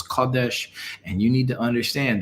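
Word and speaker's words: קדש: Transliteration is Kodesh. Pronunciation is Kodesh.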